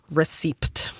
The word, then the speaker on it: receipt: the word receipt and wondering what the the p is doing there like I'm just going to I'm receed mhm what the p is silent then why the is it there that's where I'm at